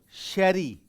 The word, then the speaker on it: Jerez: And here you will find the most famous winemaking center, that is although its spelling is Jerez, but it is pronounced as sherry, sherry wine.